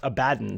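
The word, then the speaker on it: Abaddon: the few examples Uh the hero does actually say his own name in the game and it is pronounced Abaden So you know if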